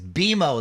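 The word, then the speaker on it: BMO: Beimo, they like it pronounced by the way.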